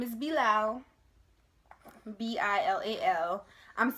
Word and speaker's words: Bilal: But his name is Bilal. B-I-L-A-L. I'm spelling it because everybody asks, what's his name? What's his name? And I say, oh, his name is Bilal. And they're like, Bilal?